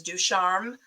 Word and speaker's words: Ducharme: CH pronounces I know my last name is Ducharme so it's pronounced like the sh um Rory I would